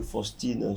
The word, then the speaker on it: Faustine: Déjà, sachez que Faustine s'écrit avec F-A-U, mais se prononce Faustine.